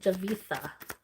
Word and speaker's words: Javitha: Javitha. Forgot to pronounce that H there for a second.